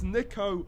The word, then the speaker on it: Niko: it's quite a starting a lineup Nico they said my name wrong I can't believe it it's Nico not Nico I don't know how